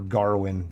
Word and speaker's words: Gawain: Yeah, Dev Patel was Sir Gawain or Garwin. They pronounce it weird in that entire movie. It's a Gawain.